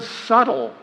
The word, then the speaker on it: subtle: And what about the word subtle? Now tell me, would anyone be upset if it was spelled s u t l e? Not a soul. But nope, there's a big bee just sitting there in the middle saying, "Shh, don't look at me. I'm not supposed to be here."